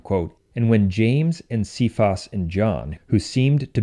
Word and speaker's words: Cephas: that name is pronounced Cephas in English but in ecclesiastical latin it is pronounced che Foss even though it's spelled the same way and as we continue